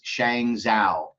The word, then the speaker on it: Shang Zhao: Now, on the left-hand side of that picture is Shang Zhao, is the way you actually pronounce it. It's Zhao Shang, but it's Shang Zhao.